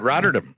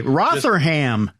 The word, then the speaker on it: Rotherham: Rotterdam. Sure. Just say it like you believe it. Doesn't matter if you get it right, Tim. It's the conviction in which you say the words. Okay, Rotherham.